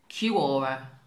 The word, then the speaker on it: Quora: Kind of sounds like, I've been told it's Quora, which reminds me of the drink Kiora.